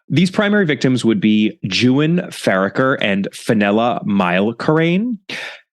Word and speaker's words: Juan: a heads up about this first name here jwan which is spelled juu an he kindly let me know that it's pronounced Jan and not Juan as is definitely my first inclination living in Spanish language infused Los Angeles as I do not that